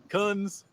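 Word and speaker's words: Khunds: Coons.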